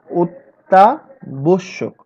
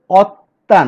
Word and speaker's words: অত্যাবশ্যক: অত্যাবশ্যক কি? অত্তা না, ও, ও হয়ে গেছে। মানে আমরা ওই যে কথা বলছিলাম 5 নম্বর নিয়ে, সংবৃত উচ্চারণ হয়েছে, ও এর মতো উচ্চারিত হয়েছে।